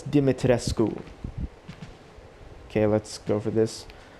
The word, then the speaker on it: Dimitrescu: say the name it's not dummy tress it's not dummy it's not french for sake it's dimitrescu as a european myself that's how i would say it wait and probably that